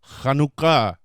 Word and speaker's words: Hanukkah: a lot of times it depends how it's spelled CH or each but just so you know it's a cut sound effect so Hanukkah so what do we say